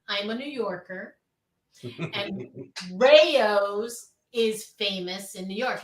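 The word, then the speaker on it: Rao's: this whole brand and everybody calls it round it's Rayos but that's okay but let's continue to call it Rouse but it's Rayos model they're both spelled the same way it's all the same but as a New Yorker it hurts somewhere deep inside when someone says routes are you deep dish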